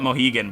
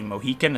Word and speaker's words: Mohican: We call it Mohegan, but it's actually Mohican.